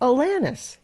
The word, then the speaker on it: Alanis: the paper it said it's Alanis like Atlantis without the tea thank you now I